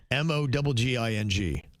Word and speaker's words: mogging: Spell it. M O G I N G.